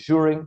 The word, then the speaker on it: Zhurin: So my surname is Zhurin.